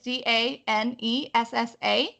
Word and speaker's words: Danessa: So the first part, Danessa, is Danessa, and then Myricks is Myricks.